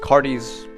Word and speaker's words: Cardes: phlox and this is cardi's run i think it's pronounced cardis uh i only end